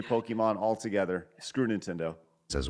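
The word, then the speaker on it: Pokémon: say it as Pokemon Pokemon but in Japanese you have to say that it said as Pokemon Pokemon so there's the a sound in the middle I don't know I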